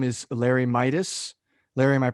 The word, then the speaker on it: Mietus: a business consultant today his name is larry midas larry am i pronouncing the name right i got it right